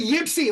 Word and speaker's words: Ypsi: Oh, it must be Yipsy, like Ypsilanti. It's Yipsy okay.